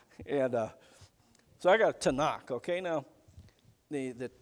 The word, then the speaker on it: Tanakh: the hebrew only has consonants okay so they pronounce that tanakh that's for and that's the complete collection of